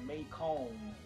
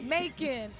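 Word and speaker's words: Macon: I got people that literally come here that pronounce my city name completely wrong they'll say may come like like it was supposed like a French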